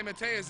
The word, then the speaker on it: Matea: And the good thing is, like I said, I told the PA announcer who had been mispronouncing Danny Matea's name, I told him it's pronounced Matea, so we'll give him another shot.